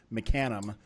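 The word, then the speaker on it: Mecanum: to the market everywhere just an American they pronounce it mecanim not mekin um or whatever weird way that mecha muffins asking us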